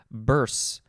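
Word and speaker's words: burse: too next we have burs it's like a purse with a b noun from the 15th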